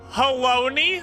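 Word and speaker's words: Halone: Haloni rhymes with Bologna.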